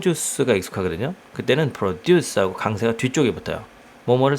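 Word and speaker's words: produce: 하려고 자 이렇게 만들어 달라 frogs 프로듀서 두가지 발음 있는데요 이것이 이제 어 우리는 동 4% 쥬스가 익숙하게 든요 그때는 프로듀스 하고 강세가 뒤쪽에 붙어 뭐를 생산하다 이런 뜻인데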